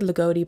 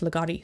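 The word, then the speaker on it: Ligotti: scribe by thomas legotti it's a legato or loogootee i feel like i always said legote but i think it's actually pronounced legati so sorry about that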